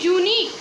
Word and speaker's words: unique: Same thing, unique. Here also the word is being started with U, which is a vowel, but it pronounced as Y.